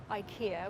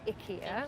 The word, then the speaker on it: IKEA: You guys asked me to be part of the Live Lagon project with IKEA, which we now know is pronounced IKEA.